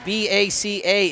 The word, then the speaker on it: Baca: Apparently, B-A-C-A is pronounced Baca.